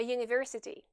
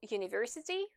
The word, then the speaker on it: university: alors que le mot university commence par la voyelle u. Et en effet, ici, cette voyelle u se prononce y, comme dans les mots français fille ou paille.